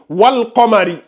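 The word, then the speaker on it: وَالْقَمَرِ: Rappelez-vous, lunaire, on a le soukoun sur le lam et on prononce bien le soukoun. On dit wal Qamari.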